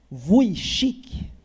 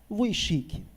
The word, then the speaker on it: Vujicic: do Senhor chamado Nick Vujicic. Esquisito mesmo, né? Você tem ali um J, mas que na verdade se pronuncia como um I.